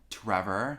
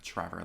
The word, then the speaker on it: Trevor: recently i've been like saying my name like trevor you know like really enunciating the t because i feel like i say like trevor like with the ch trevor yeah trevor i